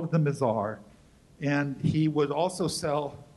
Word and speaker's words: Mizar: called it them what's how do you pronounce m-i-z-a-r not the mizar bizarre lazar the mazar which is the star